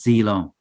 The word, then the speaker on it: Zhilong: How would you like? Yeah, it is Zilong. Yes. Zilong.